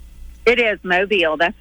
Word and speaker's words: Mobile: way is is mobile is that the correct pronunciation it is mobile that's right all right good I wanted to